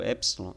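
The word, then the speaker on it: ἔψιλον: você tem o sonho a pronúncia dela é o epson ele tem um som da pronúncia ele tem um som do é em fé por exemplo é é importante você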